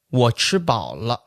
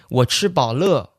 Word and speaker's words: 我吃饱了: to say, I'm full, in mainland China, we say, 我吃饱了, 我吃饱了. The L is lightly pronounced, or you can call it a neutral tone or the 5th tone of Chinese. Yep. But in Taiwan, they will say, 我吃饱了, 我吃饱了, right? They actually use the 4th tone on that word.